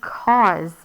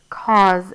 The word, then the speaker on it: cause: and that's the word cause like cause and effect so you have c cause a u causes that z sound is not a z it's actually going to be an s with our silent e after we have the